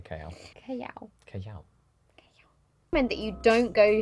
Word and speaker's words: Callao: Yes, that is how you say Callao.